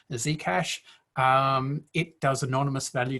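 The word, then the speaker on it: Zcash: 15 second block period z cash um so it's pronounced with an american z so z the z cash um it does anonymous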